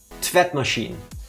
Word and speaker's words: tvättmaskin: Also, I was closer, though the sk is pronounced sh. So it's Oh, okay. tvättmaskin.